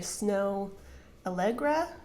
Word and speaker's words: Snow Allegra: next song is I want you around by snow algra am I pronouncing that correctly yep it's I love this